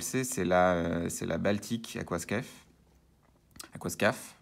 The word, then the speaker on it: Aquascaf: Aquascaf, on va la prononcer en français.